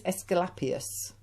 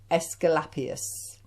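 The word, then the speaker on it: Asclepius: you can't say his name his name is escalapius i'll say that again escalapius now this particular dragon uh he has his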